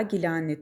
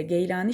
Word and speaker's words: Geylani: Arapçada elcili, Farsçada Gili veya Gilani, Türkçede ise Geylani şeklinde telaffuz edilen nisbesiyle şöhret bulan bu